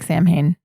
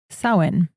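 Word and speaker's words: Samhain: So, if you're going about your day, reading about it is going to look like Sam Hane. It is pronounced sin.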